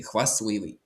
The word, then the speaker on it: хвастливий: Принаймні не вимовляється. Ти хвасливий. Ти не вимовляється, але пишеться корисний.